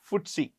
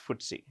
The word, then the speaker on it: FTSE: It's pronounced FTSE. What is it pronounced? FTSE. It's pronounced FTSE, okay?